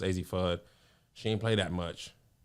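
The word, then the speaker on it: Azzi Fudd: That number 1 pick, I think it's pronounced AZ Fudd.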